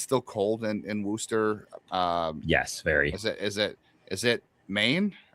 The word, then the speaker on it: Worcester: It still looks like Worcester to me, but I know it's pronounced Worcester.